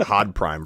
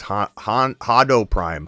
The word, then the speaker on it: Hodo Prime: I think I called you like Hod Prime for a while, and I'm like, it's Hodo Prime, Hodo Prime.